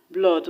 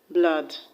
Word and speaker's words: blood: like door paul etc the only way that has double o that is not before an earth africans pronounce us or is actually the word blood and african lord now pronounce this word as blood but the right pronunciation is blood now the next tip